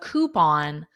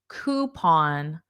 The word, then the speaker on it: coupon: Oh, so drive-thru or fast food in general, it's very common to have a coupon. Notice the pronunciation of this. Coupon. Coupon.